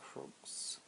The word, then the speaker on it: Croix: I think it's French, and usually in French the X is silent, so Tarot de St. Croix.